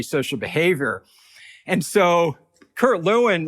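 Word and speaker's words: Lewin: The father of social psychology is primar in in in group psychology is Kurt Leuen who was uh sometimes pronounced Lavine came over uh from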